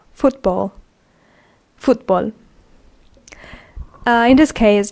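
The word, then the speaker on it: fútbol: spoke for example football we have the word in Spanish football which is pronounced the same exact way but is written in the way they hear it so it's not F wo t b a WL it's f u t b o l football football uh in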